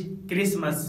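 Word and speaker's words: Christmas: इसके अलावा कुछ और भी वर्ड्स है जहाँ पर लेटर टी साइलेंट होता है, जैसे मैच, स्क्रैच, बुचर, विच, क्रिसमस, रेसल, नेसल।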